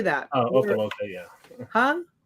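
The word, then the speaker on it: Opa-locka: Yeah, Opaloka. How do you say that? Oh, Opaloka, yeah. Huh? Opaloka.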